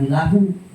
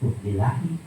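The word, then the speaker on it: لِلّٰهِ: Qolilahi bukan lilahu. Oh sebab ada lam huruf jar, lahi majrur, lillahi.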